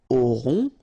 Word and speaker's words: aurons: Nous aurons, final S not pronounced, O and N together, nasal, on, A-U-O, auront.